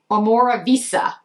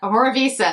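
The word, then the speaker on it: Omorovicza: to pronounce this correctly omora Visa reminds me of pizza omora Visa this is the Mist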